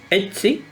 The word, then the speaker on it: Ötzi: Ötzi. Porque es O con diéresis. Ötzi. Es Ötzi. Es como una O abierta.